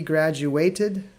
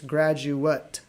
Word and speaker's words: graduate: He graduated from Ural Federal University. But if we go back, look at the old one, it's graduate.